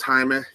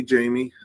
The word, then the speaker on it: Jaime: My name is Jaime. You feel free to call me Jamie. The rule I usually use is in my professional world, I go by Jamie because it's easier for folks to pronounce.